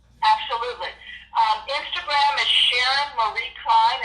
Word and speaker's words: Cline: Instagram is Sharon Marie Cline, and that's spelled C-L-I-N-E, like Patsy Cline, Sharon Marie Cline.